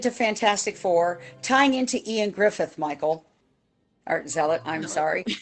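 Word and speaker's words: Ioan Gruffudd: He says, yeah, there was this guy that was in Fantastic Four, and it looked like Eoin Griffith, but when you actually look at the pronunciation, I said, it's Ian Griffith.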